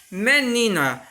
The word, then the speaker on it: menina: Menina, menina, ó, o ni eu falo com mais intensidade, então eu tenho, ó, o ni como sílaba tônica.